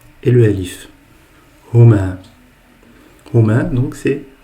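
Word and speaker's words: هما: Lorsque vous adressez à 2 garçons en leur absence, donc vous allez dire huma. Huma. Huma. Et donc huma est composé de 3 lettres. Donc le ha, le mim et le alif. Huma.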